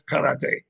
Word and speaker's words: karate: Kar I couldn't get the I never rolled an R in my life. Karate. So I finally learned how to say it.